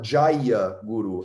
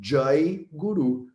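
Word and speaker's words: जय गुरु: Então, na Índia, como o A no final da palavra, ele é um A fraco, ele é um A pequeno, a gente corta ele da pronúncia. Ele existe, ele tá lá, mas ninguém pronuncia. Então, ninguém fala Jaya Guru, as pessoas falam Jai Guru, Jai Bharat, Jai Shri Krishna, Jai Ganesh.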